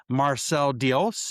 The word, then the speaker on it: Marcel Diels: We have a special guest, Marcel Diels. Is that the right That is pronunciation?